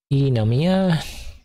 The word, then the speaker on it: Eunomia: You would pronounce all the syllables of pneumonia, Eunomia, order of law. English person would say eunomonia, eunomia. Probably what an English person would say. But in Greek, both the E and the U, the F, would be pronounced.